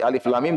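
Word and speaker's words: الم: disebut dengan al-huruf al-muqaththa'ah itu huruf-huruf yang dibaca per huruf bukan sebagai kata matanya dibacanya bukan live seperti Alif Lam Mim tidak dibaca alam tapi Alif Lam Mim dibaca nyatet perhuruf seperti Oh tidak dibaca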